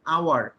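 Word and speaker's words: hour: প্রথমে দেখেন আওয়ার, উচ্চারণটা কি? উচ্চারণটা এরকম, আওয়ার, আওয়ারের মতো উচ্চারণটা। উচ্চারণটা কার মতো বলেন? উচ্চারণটা আওয়ার, এইচ ও ইউ আর, আওয়ার।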